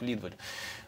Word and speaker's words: Лидваль: произносится фамилия либо или лидваль на самом деле вот спасает кириков один из ведущих свое дав города санкт-петербурга произносит во меня с ударением на первый слог лидваль ну я в общем